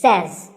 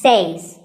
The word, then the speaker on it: says: word number two is says this word is commonly mispronounced by people learning english as sayings but remember i say you say but he or she says number three is etcetera